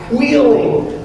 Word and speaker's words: Wheeling: actually pronounced that way it starts with an HW it's Wheeling West Virginia and if